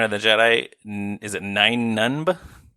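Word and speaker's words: Nunb: Is it Nun? Uh Nub. Something like that. It's Nub.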